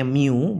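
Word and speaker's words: μ: rumusnya huruf yunanimu atau ada orang sering bilangnya Miu boleh juga Tapi aslinya huruf yang seperti u ini bacanya mu aslinya ya Muh kali n nah di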